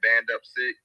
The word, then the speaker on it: Band Up Sick: It's BANDUPSICK. So like Band Up and then Sick.